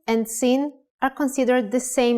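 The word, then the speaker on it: שׂין: If the dot in shin is on the upper left side, it is called sin, with a sound of s.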